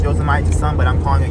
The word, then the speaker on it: Yosemite: we're driving to Y yosim I know it's pronounced yite but I'm calling it yosim but isn't this the place where they got